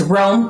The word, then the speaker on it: Roam: the name properly but you pronounce it as warm Consulting LLC yes Rome Consulting as in roaming for leadership the adventure